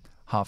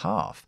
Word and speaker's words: half: mitad se Half si Half si lo importante es la pronunciación de Half que es ha y luego una F yga Half Half Half Half